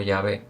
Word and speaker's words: Yahvé: nombre personal sagrado, originalmente traducido por Tindel como Jehová, ¿no? Pero probablemente pronunciado, dice aquí el autor, con más precisión como Yahvé es el nombre del pacto de Dios que